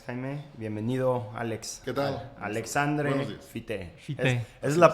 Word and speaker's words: Alexandre Fité: Alexandre Fité, es la pronunciación correcta.